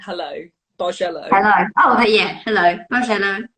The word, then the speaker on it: Bargello: Bargello. There we go. Basically, I don't actually have any of the cards to show you because I've run out of stuff. But imagine it like you're saying hello, Bargello.